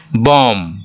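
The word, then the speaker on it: bomb: तक का ही प्रदर्शन करते हैं जैसे कॉम बॉम बॉम स्पेलिंग होता है बीईओ एमबी लेकिन बॉम बोल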